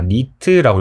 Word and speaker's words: 니트: B 아고 쓰고 단위를 NT 뭐라고 읽냐 니트라고 읽어요 니트 휘도라는 것은 우리 인간이